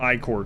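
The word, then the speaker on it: ichor: I know it's not how you're supposed to pronounce that anymore, but I always like pronouncing it I-core because that's how I originally pronounced it in my head when I read it when I was a kid. And then I heard people pronounce it Icker later on. I was like, what? That's so much less cool.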